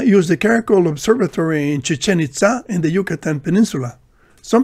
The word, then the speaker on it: Chichén Itzá: Some people pronounce the name as Chichen Itza, but the Spanish pronunciation Chichen Itza, with the stress on the final syllables, is more consistent with the Mayan pronunciation.